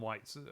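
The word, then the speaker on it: wiht: The old English version of it is W-I-H-T. No, but again, it's still pronounced white, presumably.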